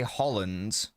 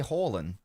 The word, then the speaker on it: Haaland: Why'd you say Holland and not Haaland? I don't say Holland. I say Haaland. There's no D being pronounced because it's the Norwegian pronunciation, guys.